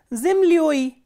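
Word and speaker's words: землёй: Zimlyoi, ya is stressed, that is why we are replacing ya with yoi.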